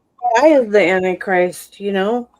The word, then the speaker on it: Ai: There's a king Ai and it's not pronounced AI. It's pronounced I, but King Ai.